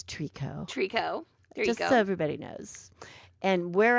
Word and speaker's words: tricot: and somehow I like it's not try cut everybody it's Treecko well you know it's